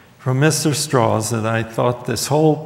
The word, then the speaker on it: Strauss: Doc from Mr um it's it's spelled Strauss but he pronounced his name straws from Mr straws that I thought this